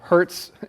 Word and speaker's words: Hertz: Hertz kind of sounds like when you get hurt, but it's spelled H E R T Z.